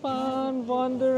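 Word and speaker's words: Van Wonderen: sa stop waffles sa fan wonderer sa fan w wonder wonder so Ang spelling niya is v a pero ang pronunciation niya is Fan ang w niya p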